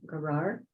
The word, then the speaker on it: Gerar: So Isaac settled in Gerar. That's how you pronounce it.